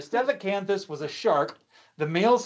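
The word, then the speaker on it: Stethacanthus: known like stiff cancer stefacanthus see even a professional paleontologist has trouble with these names so don't feel bad for yourself so the cancer fit to fit says i said it right earlier steph canthus was a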